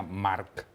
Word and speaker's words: March: que iba a ser marcha y March en pleno rompimiento creo que se pronuncia Mark m a c h H pero creo que se pronuncia Mark en mallorquí eh Bueno pero digámoslo